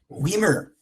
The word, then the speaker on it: Wiemer: Wiemer. Pronounce correct way.